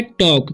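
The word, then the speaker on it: talk: अब यहाँ पर लिखा हुआ है टॉक, तो इसे पढ़ते हैं हम टॉक, क्योंकि एल साइलेंट है यहाँ पर भी, ठीक है, तो इसे पढ़ेंगे हम टॉक, टाल्क नहीं पढ़ना है।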